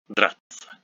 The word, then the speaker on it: драться: For example, in the word драться, meaning to fight, ся is pronounced as ца, драться, драться. Some people do say драться. It sounds very, very strange. We say драться, драться.